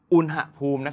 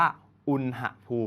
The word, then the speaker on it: อุณหภูมิ: สูง ขึ้น นะ ครับ คำ นี้ อ่าน ว่า อุณหภูมิ โลก คำ นี้ เรา จะ อ่าน ว่า อุณหภูมิ นะ ครับ ต่อ ไป ใน